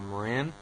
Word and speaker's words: Moran: my my pronunciation uh Moran yeah like the color of What